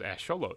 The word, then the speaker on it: axolotl: in the zoo and i had no idea how to say it so i had to look up how to say it and that's how it was it was ash show load and i was like